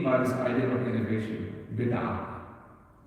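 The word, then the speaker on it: بدعة: Bid'ah. And when you say bid'at, Arabic bid'ah. We pronounce the ta marbut at the end in many words in Urdu, and in Arabic they don't.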